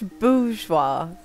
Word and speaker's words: bourgeois: It's bourgeois. Bourgeois. Okay, bougie. The bourgeoisie. Alright. I used to pronounce the R and like, everyone would be like cringing.